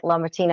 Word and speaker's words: LaMartina: And back to Mike LaMartina.